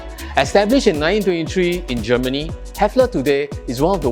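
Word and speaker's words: Häfele: years old german and its brand is hard to pronounce well it's hefla established in 1923 in germany hefler today is one of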